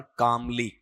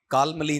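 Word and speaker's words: calmly: इसका उच्चारण कामली कालमली नहीं होगा ना कालमली ऐसा नहीं।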